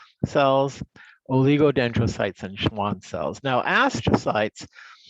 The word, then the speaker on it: oligodendrocytes: And that's how you pronounce those words: astrocyte, microglia, ependymal cells, oligodendrocytes, and Schwann cells.